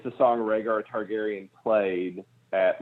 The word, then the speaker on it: Rhaegar: Ooh, did I actually pronounce that correctly? Yes, Rhaegar.